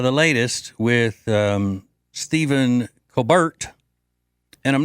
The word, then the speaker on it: Colbert: I've heard that's the original pronunciation of his name in South Carolina is Colbert.